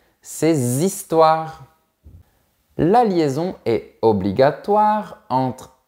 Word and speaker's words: ses histoires: Voilà d’autres exemples : vos enfants trois éléphants ses histoires Attention, ici le H est muet, donc on fait bien la liaison : ses histoires.